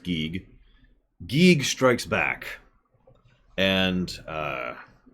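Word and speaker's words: Giegue: geig by the way it is apparently pronounced geek geig strikes back and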